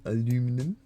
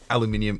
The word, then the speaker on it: aluminium: Yes, there's our aluminum, and it is aluminum, not aluminium. Which, to be, let me specify, aluminium is the correct pronunciation. Okay, we're not Americans here.